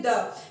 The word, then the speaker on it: the: Generally क्या होता है, द का प्रोनाउंसिएशन हम यूज करते हैं जब हम कॉन्सोनेंट नाउन्स के साथ यूज कर रहे हैं। जब हम कॉन्सोनेंट वर्ड से स्टार्ट हो रहा है कोई नाउन, तब हम द बोलते हैं।